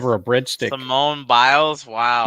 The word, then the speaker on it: Biles: butcher her name but I believe it's Simone Bayes who is the um n wants to give her a bread stick Simone biles wow B sorry that's why you're here to